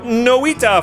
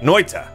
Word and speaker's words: Noita: so much for picking up nowita for my link or noita should say it right noita which means witch in finnish this is made by